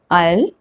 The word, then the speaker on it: isle: S is not pronounced when it comes before L in these words. Island, isle, isle, islet.